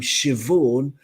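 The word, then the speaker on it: Siobhan: have the for example the first name shivorn spelled s-i-o-b-h-a-n our very own queef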